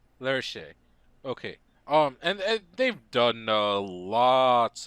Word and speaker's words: Lerche: Is that how you say it? I think it's pronounced Lerche. Lerche.